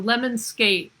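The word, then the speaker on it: lemniscate: how to pronounce lemonscape so lemonscape you think of the word lemon and then skate all right as above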